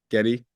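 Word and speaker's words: Gedde: Um, uh, is it pronounced, uh, Ge Watanab? Getty Watnab. Yeah, Getty.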